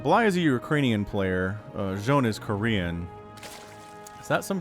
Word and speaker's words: Zoun: Did I say Zoun first? I meant Zoun. That is actually how you say it.